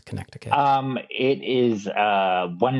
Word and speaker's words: Connecticut: question okay what about Connecticut that's how it's pronounced by the way it's Connecticut um it is a one night gig it's